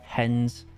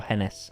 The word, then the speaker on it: Hennes: Hens and Moritz, or Hennes and Moritz. However you wish to pronounce it.